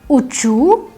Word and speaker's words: учу: In the ya form the stress is on the ending, and in the remaining forms the stress moves to the stem. So ya uchu, ti uchish, on uchit,